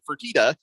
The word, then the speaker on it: Fertitta: That's Now how you I know pronounce that Tillman Fertitta.